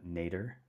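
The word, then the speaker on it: nadir: zenith and one uh nater nater I think is how you say it n a d i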